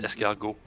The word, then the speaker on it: escargot: You know, if you heard me just pronounce the French R, it's escargot. Escar. It's like train. You don't actually pronounce it as like a hard R like we do.